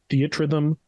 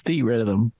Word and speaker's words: Theatrhythm: It said that's what the producer says. He says Theatrhythm. But everyone else says theater rhythm. I just thought I've never heard it out loud. I just thought it was like theater rhythm. Yeah, but it's spelled theat rhythm.